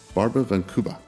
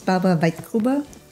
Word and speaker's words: Barbara Weitgruber: not sure I get this name right, but Barbara van Kuba. Can you repronounce that name? Make sure. Yeah, my name is Barbara Weitgruber.